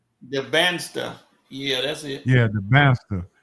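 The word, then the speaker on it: Dybantsa: DeBaster.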